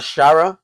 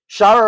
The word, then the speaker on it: Shara: I just think he looks a lot like him, and his name even rhymes with Shara Gaara.